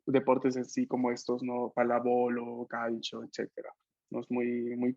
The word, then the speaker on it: pallavolo: Ah, entonces, palábolo, así se Pallavolo. pronuncia.